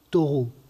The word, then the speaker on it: Thoreau: Alors, vous le placez sous plusieurs influences, dont je retiens en particulier l'une, qui est celle de Thoreau, pour prononcer à la française, auteur d'un petit livre